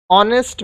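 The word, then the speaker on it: honest: ऑनेस्ट मैन, अब देखिए भले ये एच से चालू हो रहा है लेकिन एच साइलेंट है तो हम लोग का उच्चारण ऑनेस्ट हो रहा है, अ जो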